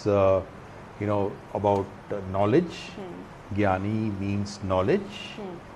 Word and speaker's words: Gnani: is very confusing because it is pronounced as gani but it is spelled as g n a n i so we are uh